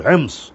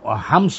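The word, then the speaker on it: حمص: মধ্যে দ্বিতীয় বড় শহর হেমস ওরা হামস বলে হামস হোমস হেমস তিন রকমের উচ্চারণ শুদ্ধ আছে তাইলে এখানে দ্বিতীয় বৃহত্তম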